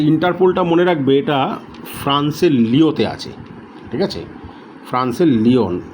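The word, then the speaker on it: Lyon: আচ্ছা, ইন্টারপোলটা মনে রাখবে এটা ফ্রান্সের লিওতে আছে, ঠিক আছে। ফ্রান্সের লিওন, অ্যাকচুয়ালি আমরা বলি লিওন বলি, মানে ইংলিশে উচ্চারণ করে লিওন, বাংলায় লিও।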